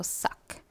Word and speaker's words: sac: K polara pronounce pannu. So, sac.